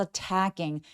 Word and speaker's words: attacking: A wolf is attacking. Attacking 할 때 강세가 이음절이 오니까 첫 번째에서는 힘을 쫙 빼주셔서 a wolf is attacking the sheep 얘기합니다.